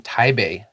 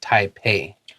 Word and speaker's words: Taipei: Did you notice I said spring in Taipei and not Taipei? 有,因為你就很喜歡假裝,他自己很會講中文. Steve's Chinese is pretty good too. 其實不是假裝,是我討厭聽到英文的拼音, 其實有很多不是很正確. Like a long time ago, somebody decided a P was for a B sound.